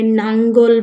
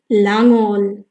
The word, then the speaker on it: লাঙ্গল: সাথে বলো বন্ধুরা লাঙ্গল এটিকে অনেকে ভুল উচ্চারণ করে নাঙ্গল বলে লাঙ্গল বলে এটির সঠিক এবং শুদ্ধ উচ্চারণ হচ্ছে লাঙ্গল কি বলবো আমরা আমার